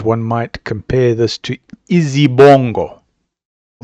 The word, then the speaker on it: izibongo: In African terms, one might compare this to Izibongo. I'll spell it. I-Z-I-B-O-N-G-O.